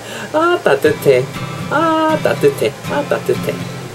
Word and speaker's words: 따뜻해: Ah, 따뜻해. Ah, 따뜻해.